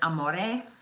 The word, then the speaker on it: Amore: This is Amore. That's how you say it.